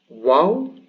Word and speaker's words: wāw: Waw, so this is either a w as a W, or it's the long vowel U, and we will see when.